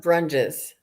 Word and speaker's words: Brunges: Brunies, the past life, the Akashic Brunches. records. We say Brunges. Brunges.